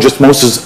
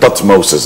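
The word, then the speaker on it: Thutmose: took it and we made it T Moses the third which is wrong so but there is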